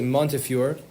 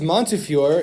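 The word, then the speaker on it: Montefiore: And in Hebrew, I noticed people write it as Montury, but I believe you pronounce it Monteur.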